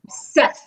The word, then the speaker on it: Youssef: People call me Youssef, and I'm like, no, it's Youssef. It's 2 S's. Stresses on the S. You know, even other Youssefs say Youssef. I'm like, no, Youssef is U-S-E-F. It's Youssef.